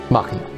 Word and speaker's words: Machina: Is that how you pronounce it? Yes, Machina.